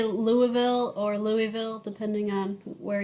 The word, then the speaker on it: Louisville: Do you say Louisville or Louisville, depending on where you are, who you're talking to? Yeah, I'm trying to say it correctly as best I can. So it's Louisville.